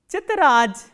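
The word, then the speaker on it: тетрадь: The next word we have is chitraj, chitraj, t, ye, t, r, a, d and soft sign, chitraj.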